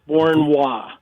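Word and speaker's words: Beauharnois: i s all right how do you pronounce it i have no idea it's fort bourne wall so i'm driving down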